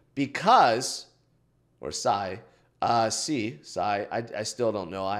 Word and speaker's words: Sei: The first one is Sei, or C, depending on who you ask. Japanese pronunciation would be C. But I guess if you're looking at something else, it might be Sei, whatever it may be.